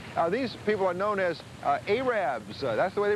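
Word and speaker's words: Arabbers: farms of sorts these people are known as arabs that's the way they pronounce it arabs and what they do is they sell fresh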